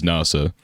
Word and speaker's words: Nasa: Yeah, they pronounce it as NASA. Right. So Starry Sky is Hoshizora is, that's how they write it, but his name is pronounced differently.